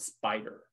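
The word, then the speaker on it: Spyder: to kind of learn about is something called spider spider is supposed to be like really really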